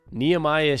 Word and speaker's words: Nehemiah: have three picks via Denver cornerback neamiah pritet Nehemiah should be the correct pronunciation because I went online to make sure